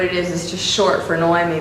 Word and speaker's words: Noemi: There's so many people that have a hard time saying my name. Naomi, which it doesn't bother me, but it seems to bother everyone else, so they don't know how to say it.